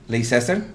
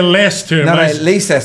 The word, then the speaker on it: Leicester: anos atrás o leicester leicester pronúncia parece-me que é Lester não se escreve leicester fica comigo que foi